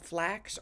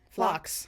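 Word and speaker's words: phlox: And then I got some purple I think they're called flax or flanks with a ph. Um they're just cute little purple. Do you know what they are? Yeah. Yeah. Yeah. You're I think you're just saying it wrong.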